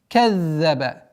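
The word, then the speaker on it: كَذَّبَ: Аллади каззаба. Каззаба. Удваиваем за удвоение, а потом произношение огласовки фатха.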